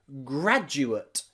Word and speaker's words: graduate: Graduate and graduate both have that D followed by the letter U. Gradu, not gradu. Don't make that mistake and have a D sound here. The D followed by the letter U is a J, J, J sound.